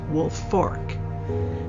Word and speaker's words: Woolfolk: w l f o l k but is pronounced wolf Fork just in case you want to Google the